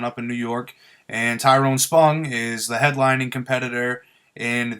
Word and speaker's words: Tyron Spong: Tyron Spong.